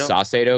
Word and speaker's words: Saucedo: I think it's Saucedo because they call him Saucy, but he's a guy who's pitching pretty decent for us.